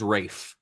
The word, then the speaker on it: Ralph: That is It is Rafe.